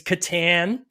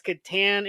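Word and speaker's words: Catan: and I'm gonna say it's Katan my that's my pronunciation K I'm Canadian you can blame it on me being Canadian you know it is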